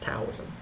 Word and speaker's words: Daoism: and Chinese folk religion it was actually pronounced taism population tends to over